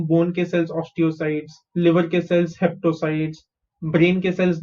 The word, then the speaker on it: osteocytes: different organs like osteocytes okay how do you pronounce this os is us people cyt is sites so osteocytes osteocytes bone cells they are liver cells liver cells